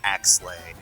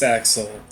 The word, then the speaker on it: Axel: Or Axley. No, it's definitely pronounced Axel.